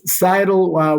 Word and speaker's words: Scytl: It's pronounced Scytl.